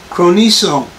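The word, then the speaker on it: χρονίζει: Now the word delayeth comes from a Greek term pronounced chroniso, which means literally will take a long time for.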